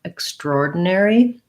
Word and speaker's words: extraordinary: And then we have the air diphthong and an E, extraordinary.